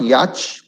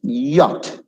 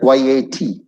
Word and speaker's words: yacht: It's not yacht. It's yacht. Like YAT.